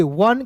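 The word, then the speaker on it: one: वन।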